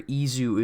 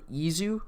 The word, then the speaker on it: Is: So the official romanization, according to the Humagear keys, is spelled is, but like the way they're pronouncing it in Japanese is Izu because it's Japanese. They say our words differently, so it's spelled is, but it's pronounced Izu.